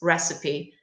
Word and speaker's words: recipe: Pay attention with the pronunciation of this word. It looks like this, recipe, but the pronunciation, if you just want to practice, recipe.